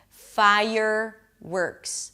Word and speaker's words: fireworks: ks a K sound and an S FIRE-works. Stress on 'fire'.